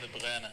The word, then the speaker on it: De Bruyne: Kevin De Bruyne.